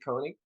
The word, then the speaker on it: Koenig: Today I have a very special guest, Kelsey Koenig. Am I pronouncing your last name right?